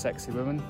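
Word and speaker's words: Sacsayhuamán: I've just taken a 30-minute walk up this hill to another Incan ruin, which I believe is pronounced Sexy Woman.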